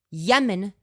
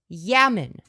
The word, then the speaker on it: Yemen: Dude, not only does Bob mispronounce my name as Femboys, he pronounces Yemen as Yamen. He thinks it's pronounced Yamen, and we're meant to take his opinion seriously.